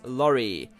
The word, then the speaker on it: Lori: said as dinin and Lori is or should be pronounced as lorri as in a van or a truck or a lorry so that's the route